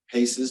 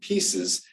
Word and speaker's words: PACEs: I've heard people call them PACEs, but we're actually pronouncing it pieces.